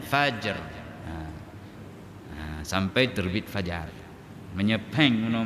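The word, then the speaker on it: فجر: Jadi kalau dibaca faj enggak ada ra-nya, maka sejahteralah malam itu sehingga terbit jalan-jalan, maka keluarlah subuh asmara itu kan. Jalan-jalan itu fajjun itu. Nah, maka bacanya fajr.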